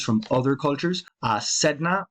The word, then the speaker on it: Sedna: Sedna, or Sana, as it may now be pronounced.